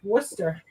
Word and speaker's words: Worcester: christmas time the town in massachusetts is actually pronounced worcester i would never get it from mass valley